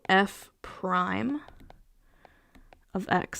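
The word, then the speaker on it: f′(x): Prime of X okay so F Prime of X that's how we pronounce that and it's the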